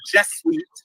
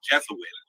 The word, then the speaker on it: Jesuit: that you look at the jet Suites by the way it's Jesuit Jesuit letters if you don't